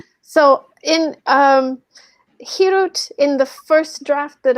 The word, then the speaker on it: Hirut: Hirut.